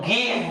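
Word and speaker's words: give: যেমন গিভ বানানে শেষে ই আছে, তার মানে এটা সঠিক আছে, আমি ইটাকে কাটবো না, মানে জি আই ভি, গিভ হবে না, কারণ ভি দিয়ে ইংলিশ ওয়ার্ড শেষ হয় না।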